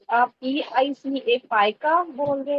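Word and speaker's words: pica: कुछ लोग हैं जो पिका बिहेवियर भी कहते हैं, लेकिन मुझे लगता है कि इसकी जो सही जी जी प्रोनाउंसिएशन वो पाइका ही है।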